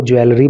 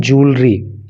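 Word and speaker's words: jewellery: इसके प्रोनाउंसिएशन पे भी आपको विशेष ध्यान देना है। कुछ लोग इसको ज्वेलरी बोल देते हैं, लेकिन इसको ज्वेलरी नहीं बोलना है, आपको इसको बोलना है ज्वेलरी।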